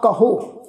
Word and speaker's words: कहो: इस शब्द का पाठ करांगे कहो जिहड़ा विचकार वाला हाहा अखर है जी उहदे ते असीं दबाव पा के उच्चारण करना वा कहो।